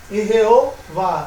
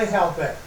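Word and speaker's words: יְהוָֹה: Então teria que ser Irreová e não Irreavé.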